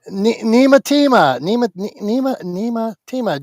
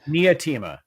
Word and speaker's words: Nia Tima: Nima Tima, Julie's friend. Nia Tima. You were Nice. you just clipped me saying the name wrong 10 times.